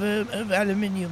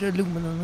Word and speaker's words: aluminium: She always had a smell of aluminium, or it's aluminum, as you Americans say it. Well, incorrectly.